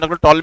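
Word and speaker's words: Ptolemy: यहां कंडीशन होती है टैली थ्योरम बोलते हैं इसे पीस साइलेंट है कम में कोई खास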